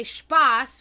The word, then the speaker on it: Spaß: from, the dialect, when we can say Spaß, which is the proper pronunciation of that word, but we'll say Spaß.